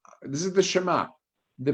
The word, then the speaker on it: Shema: Okay, so if you notice, it says Shema instead of Shema, the accent on the beginning syllable, and the again, ayin